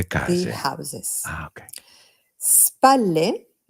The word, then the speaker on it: spalle: Remember that when we have a double L in Italian, we extend the L Spalle. sound a little bit.